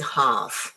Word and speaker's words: half: So it goes with half. Half. Remember the L is silent. So you don't need to pronounce it.